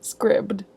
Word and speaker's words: Scribd: Future Whitney reporting live to tell you that Scribd is actually pronounced Scribd.